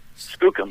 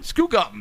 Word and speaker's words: Skookum: you another Bigfoot movie and how would you pronounce this Skookum Skookum that's the right doesn't that mean like poo